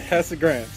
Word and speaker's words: Casagrande: It's Elena Casagrande. Yeah, I go to you. You're my go-to person for pronunciation of names there. So just want to make sure. Casagrande.